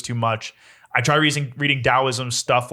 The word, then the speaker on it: Taoism: was the last thing it's actually supposed to say with the D taoism that was spelled with